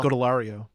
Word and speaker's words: Scodelario: Scodelario.